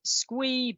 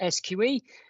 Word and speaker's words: SQE: stands for the solicitors qualifying exam some people pronounce it squee but we're not that fun we're a serious regulator so we pronounce it sqe but then the other acronym we'll be using